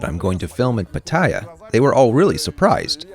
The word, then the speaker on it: Pattaya: I'm in Pattaya. Yes, it's pronounced like that, with the accent on the last syllable, although they usually call it Pattaya, and it's a wonderful place.